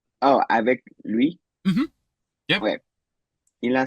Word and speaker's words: lui: Lui, because you have to push it out, remember, with those lips with the U sound?